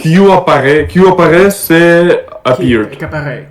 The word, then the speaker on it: qu'apparaît: You say qu'apparaît. Qui apparaît. And not Q, but qu'apparaît. So Qu'apparaît. you pronounce this thing like qu'apparaît. But let's check. I may be wrong. You know, the problem is that we have to spend, I think, like 3 months to just avoid. To just fix the pronunciation, yeah. Exactly. Qu'apparaît. So I was right.